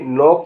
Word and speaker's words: knock: जिसमें के साइलेंट होगा वैसे भी वर्ड बताने जा रहा हूं। KNOCK, नॉक माने खटखटाना।